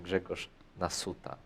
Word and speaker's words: Grzegorz Nasuta: game we've looked at, it was Grzegorz Nasuta, not Naszuta, like S. So yeah, that's all tricky.